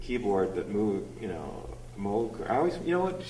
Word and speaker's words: Moog: that move you know Mo I always you know what I need actually did pronounce it it's like a a Dutch name which I found in Holland they pronounced Mo not